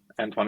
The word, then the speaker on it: Antoine: Antoine is perfect.